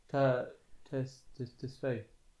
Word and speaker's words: Tesfaye: Tesfaye.